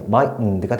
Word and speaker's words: mightn't: 다음에 여기에 mightn't가 돼요. mightn't. 여기서 이 n은 묵음처리 된다. 뭐 이렇게도 얘기를 하는데 여튼 mightn't가 되고 다음에 couldn't, wouldn't, shouldn't 정도가 되겠죠.